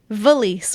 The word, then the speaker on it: valise: So do you guys know what the French word for luggage is? Felice? Valise with a V. Valise. Because that's Chloe's biggest gripe